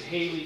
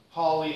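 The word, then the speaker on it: Halley: before class H's Comet rhymes with valid a very small number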